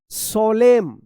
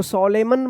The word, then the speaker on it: solemn: चलिए अब देखिए यहां पे SOLEMN क्या पढ़ेंगे सोलेम, सोलेम पढ़ेंगे सोलेम, इसको सोलेमन मत पढ़िएगा, एन जो है ना यहाँ पे भी साइलेंट रहेगा।